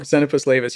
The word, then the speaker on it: Xenopus laevis: How do you pronounce it? Frog. Xenopus laevis, yeah.